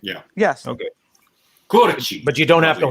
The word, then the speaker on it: Curci: How exactly do you pronounce the last name? Curci. Curci. You guys did it. Yeah. Yes. Okay. Curci.